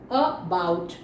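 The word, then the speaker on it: about: उसके बाद में आप देखिए अबाउट, अबाउट, तो यहाँ पे अ, वापस ये जो अ लगा है, ए लगा है, इसका उच्चारण क्या हो गया, अ।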